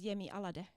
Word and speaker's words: Yemi Alade: what I've realized is if I approach it from the finished pronunciation I get a lot closer oh is it yeah yeah because in Finnish you would just read it as it is so you would read it as yemi alade exactly so if I